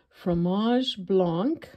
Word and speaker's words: fromage blanc: We're going to make some fromage blanc.